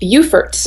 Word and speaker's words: Beaufort: family to, is it Beaufort? Is that how you pronounce it? In North Carolina, that is how you say it, but in South Carolina, where I live, it's pronounced Beaufort.